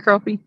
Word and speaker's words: crappie: called really spotted B it's always been crappy but I don't know why they spell it with an a it's so confusing Dell